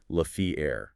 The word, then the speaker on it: La Fière: And that fact is the battle for La Fière Bridge. Yeah, and for anyone trying to look it up on a map later, that's spelled L-A space F-I-E-R-E, but it's pronounced La Fière.